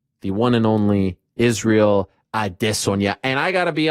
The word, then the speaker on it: Adesanya: it's supposed to be said, and that's Israel Adesanya.